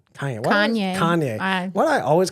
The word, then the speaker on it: Kanye: okay so because like uh ye K uh Cayenne Cayenne kany Kanye why do I always call him Cayenne you havea problem pronouncing things well and I'm I'm just like